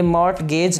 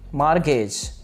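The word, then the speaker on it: mortgage: ये मॉर्टगेज नहीं है, ये कुछ और भी नहीं है, बल्कि मार्गेज, मार्गेज, मार्गेज।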